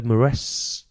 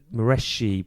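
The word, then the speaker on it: Moreschi: might be alessandro alessandro either mareshi m-o-r-e-s-c-h-i so mareshi probably sounds sounds better and he's very interesting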